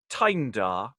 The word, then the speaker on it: Tyndar: And the team today are reading the part of, we've decided to pronounce it Tyndar to avoid modern connotations.